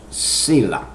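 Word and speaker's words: Selah: then there's a word s EA s e l a h that is pronounced Sila and if you look that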